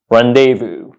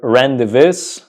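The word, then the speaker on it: rendezvous: randevu rendevu reevu reevu so do not pronounce this word randis randus or anything like that or things along those lines those are incorrect pronunciations the correct pronunciation of this word is randevu randevu randevu but what does it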